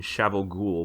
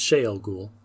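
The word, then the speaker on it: Shayol Ghul: the forsaken were originally imprisoned in shovel ghoul by the creator it's shale ghoul whoops that's fine no no it's it's a pronunciation thing and i only know that because i listen to the audio books okay there were crap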